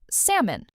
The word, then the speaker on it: salmon: Think of a person's name, Sam, plus a small on sound at the end.